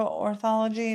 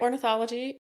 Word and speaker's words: ornithology: Did you like get uh a special degree to go into orthology? Did I say that right? Yep. You said it right. Ornithology.